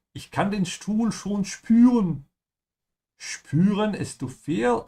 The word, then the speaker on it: spüren: Oh Mann, ich kann den Stuhl schon spüren. Spüren is to feel. Again, here we have an example of an SB sound, so make sure you say spü.